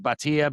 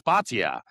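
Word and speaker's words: Bhatia: And then Akshay, and eventually, sometimes I pronounce it Batia, but it's Batia at 66 to 1.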